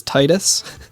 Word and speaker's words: Titus: I'm also very thankful that everyone agrees with how to pronounce Titus's name, which is Titus.